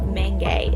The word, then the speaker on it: manga: of things so as the aforementioned word Menge I that's how it's pronounced we're thinking about purely